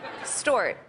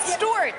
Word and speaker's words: Stewart: problem is that she didn't know how to pronounce stuart correctly store it story store it store it store it store it stewart store stuart am i saying it right stewart yes store it store it the